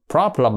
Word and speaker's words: problem: đó thì đó là phát âm của nó là no problem nhớ nghe prop chúng ta thấy cái chữ này có hai âm prop prop o này là o ngắn đúng chưa thành ra nó nửa o nửa A nó đọc là prop prop chứ không phải là prop problem nha No problem No